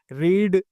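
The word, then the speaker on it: read: अच्छा, जो रीड की वर्ब की तीनों फॉर्म होती है ना, रीड, रेड, रेड होती है, बस इसका लिखने का तरीका एकदम सेम होता है, लेकिन इसकी प्रोनाउंसिएशन डिफरेंट होती है।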